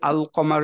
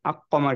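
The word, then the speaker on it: القمر: start হচ্ছে এরকম আল দিয়ে সো লামটাকে ঠিকভাবে উচ্চারণ করলাম আমরা একচুয়ালি আল কমার যখন বলবো তখনই আমাদের মনে হয়ে যাবে আচ্ছা কমার ইজ দিস যে আলটা প্রপারলি উচ্চারণ হচ্ছে আকমার কিন্তু আমরা বলি না রাইট বলতে গেলেও কেমন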